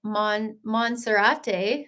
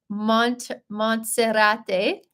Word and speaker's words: Monserrate: We went on a gondola up the mountain, and it's called Monserrate. Oh, that's a really bad pronunciation. Let me try that again. Uh, Montserrate. Okay, maybe that's a little bit better.